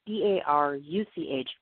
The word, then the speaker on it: Baruch: If you guys want to look her up, her name, like I said, it's Karen, and it's spelled Caren, Baruch, that's Baruch, Feldman is her last name.